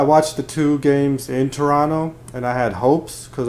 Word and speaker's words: Toronto: will say welcome to Toronto no t 0 2nd T 2nd T is silent I watching Toronto Raptors